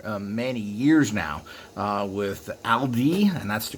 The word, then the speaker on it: Aldi: doing that for many years now uh with aldi and that's the correct way to pronunciate it trader joe's you have riva you